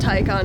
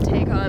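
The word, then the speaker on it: Taycan: got the tycon oh we also established this pronounced tycon not take on i'm just stupid i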